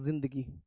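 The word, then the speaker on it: ज़िंदगी: इसे बोलते हैं जिंदगी। राइट? और Z से बनने का कारण ही इसका यही है। जिंदगी की स्पेलिंग दे से स्टार्ट नहीं है। जेड से स्टार्ट है। जे से स्टार्ट नहीं है। किससे है? Z से।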